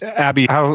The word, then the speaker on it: Abhi: No, just before we go further, because we had a comment about us butchering names, and I'm not an expert at pronouncing names. Abhi, what's the proper way to pronounce your name for today?